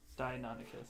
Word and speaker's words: Deinonychus: Dianonicus? Deinonychus. Yeah, actually. If I look at the word again, slower. Deinonychus.